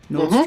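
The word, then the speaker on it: Nordström: Best producer, Frederick Nordstrom. Have I said that right? Is that how you pronounce his name? Nordstrom.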